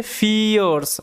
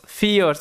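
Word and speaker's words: fierce: আ ফিয়ার্স, এটার উচ্চারণটা ভালো মতো মাথায় রাখবে, এটার উচ্চারণটা হচ্ছে ফিয়ার্স, ফিয়ার্স, এখানে যে আই ই আর এটা ইয়ার এরকমভাবে উচ্চারণ হবে, ঠিক আছে?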